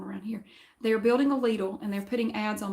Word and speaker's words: Lidl: Now, I know some people pronounce it Little, but I want to tell you why I could say Lidl.